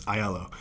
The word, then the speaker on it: Aiello: It's Aiello, and the way I tell people to get it right is that you take the three letters I, L, and O, and you just say them in a row.